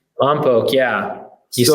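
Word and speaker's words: Lompoc: So you're in Lombok. Did I say it right? Lombok, yeah.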